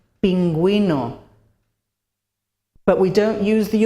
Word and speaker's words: pingüino: However, if we want to pronounce the U, we have to use the umlaut with the vowels E and I. For example, bilingue, bilingual, bilingue, pingüino, penguin, pingüino.